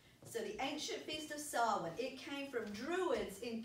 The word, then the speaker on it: Samhain: ancient feast of and that word looks like Samhain but it's actually pronounced sahlan so the ancient feast of solvent it came from druids in Celtic tribes when